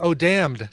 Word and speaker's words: damned: Like it's because damned. Damned is a good example right there. Damned has a vowel, and you don't pronounce the N in that one.